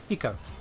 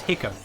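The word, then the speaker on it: Hikou: Heat like a single, very short laugh. He. And then co in like in coexist. Hiko. There's hicco. Like hiccup for someone who's mispronouncing it.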